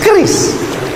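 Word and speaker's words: QRIS: Cara bacanya gimana sebetulnya? Keris.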